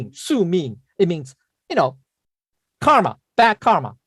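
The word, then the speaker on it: 宿命: get rid of what we call, it's called so ming, right? It's pronounced so ming, right? So ming. I think it's pronounced so ming. Let me see what it's called. It's pronounced su ming.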